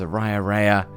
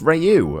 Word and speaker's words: Ryu: pointy helmets Captain s Rea am I saying oh it's Ryu oh my bad sorry